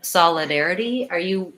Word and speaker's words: solidarity: Solidarity, solidarity. Those are the syllables. I have the I vowel, the air, and then I again, and an E at the end.